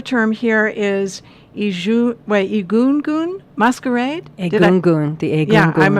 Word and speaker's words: Egungun: Egungun, the Egungun. Yeah, I pronounced it correctly.